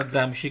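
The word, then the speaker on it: Gramsci: The role of the Indian historian Antonio ग्राम्शी, देखो इसका pronunciation Antonio ग्राम्शी, इसका ग्राम्शी कहना चाहिए।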